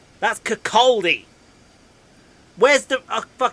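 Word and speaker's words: Kirkcaldy: r k c a l d y that's cakaldi where's the extra d coming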